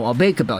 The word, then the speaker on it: Aube-Kubel: the team that's getting Cabell because or not cabel no albeitbell you have to say both of them in the same phrasing that's how it's said but Washington has so